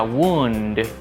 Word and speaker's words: wound: Esta palabra, como sustantivo, se pronuncia wound con U. Es una excepción, no dicen wound, sino wound. Y significa herida. I have a wound.